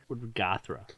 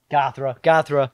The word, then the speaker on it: Göthra: Gothra. Gothra's kind of cool. Gothra. How are we going to spell it, though? Goth, R-A. Like Mothra.